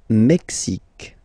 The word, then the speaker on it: Mexique: Le Mexique. Mexique. It's really the X. Huh? Le Mexique. And then remember this Q-U-E, it's only K.